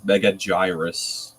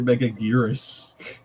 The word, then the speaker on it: Megaguirus: Or there was that one Godzilla-thon episode that AVGN did where he pronounced Megaguirus as Megagyrus. I Oh, used yeah. to pronounce her name like that. They're like, no, it's clearly Megaguirus.